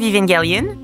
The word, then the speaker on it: Evangelion: pouvoir le faire toi ça se prononce the end of evangaliion H c'est un film